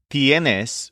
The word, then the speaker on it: tienes: All of their conjugations stress the syllable yen. Tiene for the store owner, tienes for the kid, and tienen for the pandas.